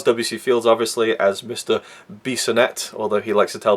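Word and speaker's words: Bissonette: No, it's pronounced Bissonnet, I really enjoyed that little running gag.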